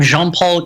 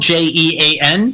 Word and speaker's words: Jean Paul: French dance that's beautiful it's spelled je a n so some of my teachers when I was growing up would call me Jean Oh Jean Paul was annoying because that's not my name so I became